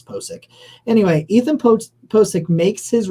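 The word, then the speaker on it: Pocic: I'm pretty sure it's Posick.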